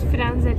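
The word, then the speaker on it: Firenze: oluyor yani Selam selam Biz floransa'ya gidiyoruz frenze diye okunuyormuş Bu arada Neyse bir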